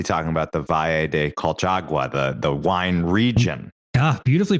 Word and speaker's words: Colchagua: Now, right, this is where you must be talking about the Valle de Colchagua, the wine region. Ah, beautifully pronounced.